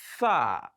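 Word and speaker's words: ث: So tha, just the tip of your tongue, place it at the middle of the teeth. Tha, tha, tha, and easily you pronounce the sound. Tha, thum, thum, thum, not sum, not sam, no.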